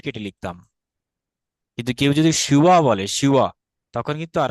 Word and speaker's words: শিব: বরং ওয়া হয়, কারণ এটা অন্তস্থ ব, এটা কিন্তু বর্গীয় ব না। এটি হচ্ছে মেইন ফ্যাক্ট। এই কারণে বললাম না, ওই যে উচ্চারণ সঠিক না হলে বানানে চেঞ্জ হয়ে যায়। কেউ যদি শিব বলতো তাহলে কিন্তু আমরা